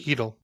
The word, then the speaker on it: Cheadle: Heedle. Cheadle? Heedle. The C silent? Yes.